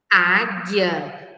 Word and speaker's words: águia: são elas a águia águia nós não escutamos o som da letra u o Foguete O guepardo